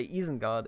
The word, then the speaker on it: Isengard: way enjoy and obviously because we pronounced the eye differently we say ease in God and I always liked